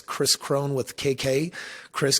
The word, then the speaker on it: Kris Krohn: people find me on social media my name is spelled a little funny it's Chris Crone with KK Chris K RIS and honestly uh